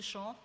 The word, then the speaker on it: Shaw: Am I pronouncing your name correctly? Shaw? Shaw, S-H-A-W.